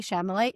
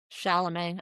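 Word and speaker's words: Chalamet: next victim to take down and last Timothy Shamlet. Not that he shouldn't get Shalamé. I realize we were both pronouncing it wrong all did I say Shyamalain Shamlet?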